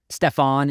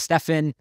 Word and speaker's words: Stephen: They pronounced his name wrong. They called him Stefan instead of Stephen, and they didn't correct it.